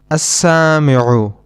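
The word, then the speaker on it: السامع: As-sami'u, which means the listener. In this noun, we do not pronounce the lam. We directly connect the hamza with the sin, as-sami'u.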